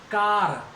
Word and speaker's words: car: है, फियर, तो फियर इसमें भी आर का उच्चारण नहीं होगा। देखो CAR, कार, कार खूब कहते हैं हम, कार से आया